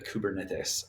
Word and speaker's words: kubernetes: the cybernaut or the the kubernetes i think is the correct uh pronunciation um and weiner wrote a little book called in i think in 1964.